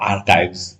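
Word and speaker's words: arXiv: देखिए XIV लिखा है लेकिन इसको प्रोनाउंस किया जाता है आर्काइव्स, है ना।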